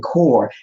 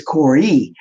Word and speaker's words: Kore: I was saying Core, it's Corey.